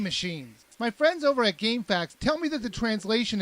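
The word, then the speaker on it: GameFAQs: has friends over at Gamefax, which it's not spelled FAC TS, it's spelled FAQs. So, gamefax. I mean, it's supposed to be pronounced gamefacts like f a xs, but it's spelled g a m f aqs.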